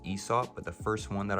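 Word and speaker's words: Aesop: I just looked it up and apparently it's pronounced Esau.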